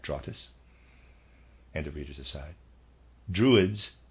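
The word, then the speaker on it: Drottes: and that's readers aside that spelled d-r-o-t-t-e-s i am pronouncing that trottas and the readers aside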